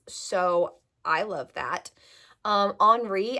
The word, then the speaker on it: Henri: Um, Henri, I think is how you pronounce it cuz he's French. It's spelled H E R H E N R I. So, most people would say Henry. I'm pretty sure it's Henri, but he called her